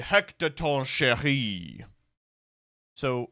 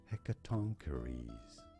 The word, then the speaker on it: Hecatoncheires: Embrace the salvation of the Hecatoncheire. So let me try that again. Hecatoncheire. We are looking at how to pronounce this name from Greek mythology. How do you say it correctly? Hecatoncheires.